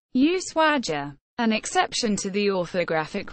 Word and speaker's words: Ushuaia: the eye is erroneous the prosodic accent is on the first a which is why the word is written without an accent mark symbols shield the municipality